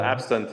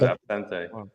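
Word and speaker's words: absinthe: They call it absent in in the in United States or in in England or something. Okay. The actual name is absente.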